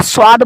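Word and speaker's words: ص: पहली वाली शक्ल की जो हरूफ है, जैसे ये आप देख पा रहे हैं, इसको स्वाद बोलते हैं।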